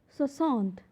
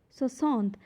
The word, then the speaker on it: soixante: Now for 60, for 60 there is a word soixante and it will be pronounced as soixante, soixante.